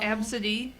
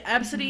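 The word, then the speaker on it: Abcde: story before not like it's just oh man absidy AB B CDE E Yeah absidy is a very popular girls name actually surprisingly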